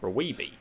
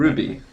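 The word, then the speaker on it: RWBY: They also make Raweeby, which I don't watch. Raweeby? And after, it's basically their attempt at a Western. Ruby.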